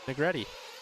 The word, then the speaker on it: Negretti: Negretti. I got it right that time. Hi. It's Negretti? Yep. What were we saying? No, it's different, isn't it? No, we said it wrong earlier. Negretti is correct.